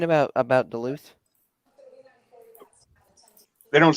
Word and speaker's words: Duluth: You know, the city of Duluth is pronounced Duluth.